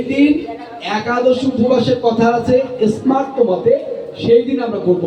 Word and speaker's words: স্মার্ত: স্মার্ত মতের অর্থ হচ্ছে যা স্মৃতিশাস্ত্র বিহিত মত। এই উচ্চারণটা অনেকে ভুল করে, দন্ত স্বয়ময় আকার তয় তয় দেব, স্মার্ত, এটাকে স্বার্থ বলে অনেক, এটা ভুল উচ্চারণ, ভুল ব্যাখ্যা।